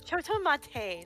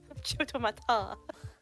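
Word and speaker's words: ちょっと待って: It's chotomate, not chotomata.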